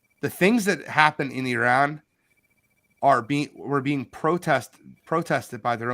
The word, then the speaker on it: Iran: Our country is Iran, not Iran.